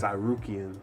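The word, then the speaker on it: Tsarukyan: Armen how do you say his last name sarian sarian there we go you go I believe man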